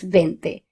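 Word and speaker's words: veinte: You have to remember that 20 is pronounced as vente.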